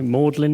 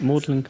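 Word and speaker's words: Magdalene: Rowan Williams, who is Master of, you've got to pronounce it differently between Oxford and Cambridge, don't you? No, Magdalen, is that Magdalen?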